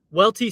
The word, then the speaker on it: Welty: tell your buddy that the way to remember how to pronounce my name is it sounds like wealthy Welty sounds like wealthy and